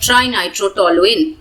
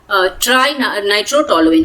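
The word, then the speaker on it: trinitrotoluene: हम लोग बोलते हैं ट्राइनाइट्रोटोलुइन या ट्रीनिट्रोटोलुइन हिंदी में, but generally we pronounce it like ट्राइनाइट्रोटोलुइन. okay, TRI को हम लोग ट्राई ही बोलते हैं mainly.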